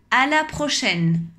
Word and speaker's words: à la prochaine: prochaine à la prochaine on ne prononce pas le e attention à ne pas prononcer le final mais on entend bien le n qui est juste avant le e à la prochaine au revoir à la